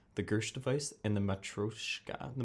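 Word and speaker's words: matryoshka: new special grenades the Gersh device and the metroshika the matrishka matrushka in Russian the pronunciation is the special dolls that go inside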